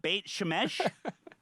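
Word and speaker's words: Beit Shemesh: bait boy i apologize in advance for my pronunciations of all of this i'm such a uh bait shemesh is that correct great shamish yeah yeah now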